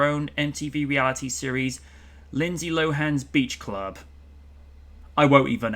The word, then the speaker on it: Lohan: Many were surprised to know that her name is pronounced Lohan. Oh, and not Lohan.